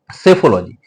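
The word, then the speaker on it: psephology: सेफोलॉजी। ठीक है? यह साइलेंट रहेगा आपका सेफोलॉजी चुनाव विश्लेषण समथिंग दैट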